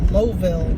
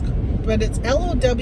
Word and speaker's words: Lowville: I just went to in a town called Louville, they call it, but it's Lowville, but they call it Louville, something like that.